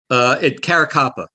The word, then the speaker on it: Caracappa: It's Louis Eppolito and Steve Caracappa. Did I get those pronounced right? Caracappa.